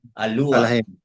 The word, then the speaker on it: Elohim: I think those are only two things you need to also of course iyung Elohim kanina uh we prefer to read it in the Yahudi way. Aluaim.